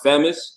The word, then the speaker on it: Phamous: Actually, it's really pronounced famous, but some Okay. people do say famous, but it's at first it's like it's weird how that name came to be.